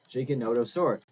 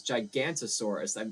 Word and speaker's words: Giganotosaurus: Giganotosaurus. Oh, yeah. So yeah, the Giganotosaurus. I thought it was Gigantosaurus. I took the O out.